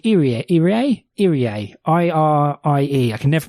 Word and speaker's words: Irie: And she has a co-worker called Irie, I-R-I-E. I can never pronounce that.